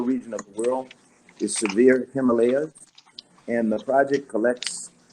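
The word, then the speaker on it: SERVIR: benefit of humanity is program called severe and I'll spell it for you it's SCR vir severe and it's a program that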